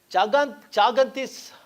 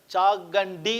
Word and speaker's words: Chaganti: Now, Chagantis, I should pronounce it as Chagandi Satyanarayana.